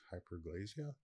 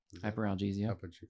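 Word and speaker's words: hyperalgesia: I think um I'm going to butcher the term opioid induced hyperglazia hyperalesia hyperia is maybe at most 6%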